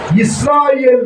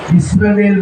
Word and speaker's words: இஸ்ராயேல்: இஸ்ரவேல் மக்கள் சொல்ல மாட்டேன், அது தவறான மொழிபெயர்ப்பு. வேலுக்கும் நமக்கு சம்பந்தமே கிடையாது. இஸ்ராயேல், ஏல்னா தேவன் என்று அர்த்தம். இஸ்ராயேல், இஸ்ராயேல் சொன்னா தேவனுடைய மக்கள் என்று அர்த்தம்.